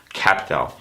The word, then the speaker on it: Qapital: I don't know if you've heard about this app called QAPITAL, spelled with a Q. So QAPITAL, QAPITAL.